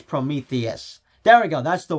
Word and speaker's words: Prometheus: ago and now I can't remember how it's pronounced which I I swear it's Prometheus there we go that's the word but with